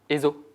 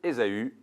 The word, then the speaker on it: Ésaü: Ézo. Ézo. Bien joué. C'est pas la bonne prononciation, c'est bon. C'est Ésaü, précisément.